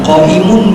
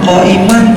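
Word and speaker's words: قائمًا: Di dalam ilmu nahwu kalau ada inna zaidan qaimun, bacanya bukan qaiman, tapi menurut mazhab basriyin yang benar adalah tansibul isma wal khabar ma'an. Jadi bacanya inna zaidan qaiman, bukan inna zaidan qaimun.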